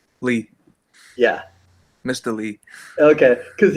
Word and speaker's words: Leigh: thank you now is is that the correct pronunciation of your name lee yeah mr lee okay because you know you